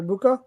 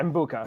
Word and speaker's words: Egbuka: You're talking about the receiver, Emeka Egbuka? Yeah, Mbuka.